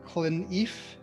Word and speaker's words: Clineff: I am really excited to be joined today by Clineff. Did I pronounce that correctly?